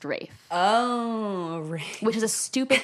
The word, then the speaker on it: Ralph: his name is pronounced Rafe it's spelled Ralph and it's pronounced Rafe oh which is a